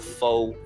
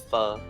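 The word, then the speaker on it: phở: Pronouncing it wrong. So not pho, it's pho.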